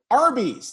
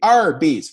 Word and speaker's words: Arby's: But roast beef, literally, Arby's, their name is R, like phonetically, R and B, Arby's, roast beef.